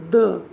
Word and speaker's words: the: আগে BIRD, বার্ডের আগে এখানে THE, এটা হবে দ্য, কারণ এই বিটা একটা কনসোনেন্ট। কনসোনেন্টের আগে দ্য, এবং ভাওয়েল যদি হয় যেমন এন্ড, END, এখানে THE এর উচ্চারণ হবে দি।